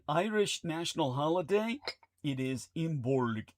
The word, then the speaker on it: Imbolc: It is imbul. It's pronounced Imbul.